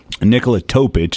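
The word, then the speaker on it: Nikola Topić: Spurs to do and Nicola topic is how you say his name as a guy that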